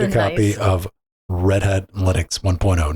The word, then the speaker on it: Linux: And I spent a weekend listening or trying to listen to, my name is Linus Torvalds and I pronounce it Linux.